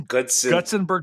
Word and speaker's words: Gutzon: you tell me how the heck do I pronounce this man's name Gudson Gutsenber That's Borlham.